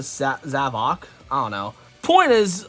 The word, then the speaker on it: Zavok: But as I was pulling down figures for this video, I did come across the Zavok, or I thought his name was Zavik, but people pronounce it Zavok.